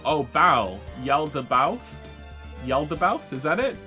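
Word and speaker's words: Yaldabaoth: vods by the way tip on how to say my name it's yalda both bow as in to bow oh bow yelled about yelled about is that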